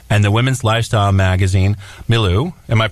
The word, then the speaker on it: milieu: Long Island Press, and the women's lifestyle magazine, Milieu. Am I pronouncing that right? Milieu.